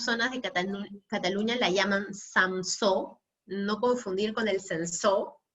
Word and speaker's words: samsó: de Cataluña la llaman samsó, no confundir con el sensó, ¿no? Este samsó, que es sinónimo de cariñena o mazuelo, se escribe S-A-M-S-O, ¿ya? Samso, así tal cual suena.